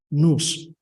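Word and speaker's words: nous: it well I okay in English is spelled n-o-u-s in Greek is pronounced news Okay sometimes in English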